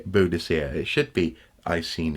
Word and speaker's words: Boadicea: so in that sense there is a very good argument that that is how should be said mr. soup it should be Boadicea it should be I